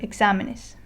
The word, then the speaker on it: exámenes: Okay, another word that I can demonstrate it on is the word exámenes.